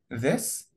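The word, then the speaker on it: this: قنا بنستخدم الضمائر دي ذس ذوس خد بالنا التي اتش هنا تنطق ذ لازم لساني يطلع وان بين سناني وانا بنطق الساوند ده بستخدم ضمائر الاشاره دي عشان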